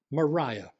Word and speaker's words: Maria: by her middle name which looks like Maria but is she wanted it pronounced Mariah so she was marah